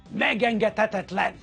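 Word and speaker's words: megengedhetetlen: Megengetetetlen. Blimey, oh David, Welsh, Irish, Riley. How many syllables? Let's count them. Meg, eng, get, het, tet, len. 6!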